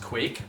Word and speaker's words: Kveik: One yeast she mentions is something called Kavak, actually pronounced Quake, but I'm just going to call it Kavik cuz my brain can understand that a little bit better.